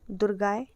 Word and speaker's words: दुर्गायै: अब कुछ लोग इस मंत्र को दुम पढ़ते हैं। ओम दुम दुर्गा नमः लेकिन नहीं इसका जो सही उच्चारण है वह है ओम दुम दुर्गाय नमः।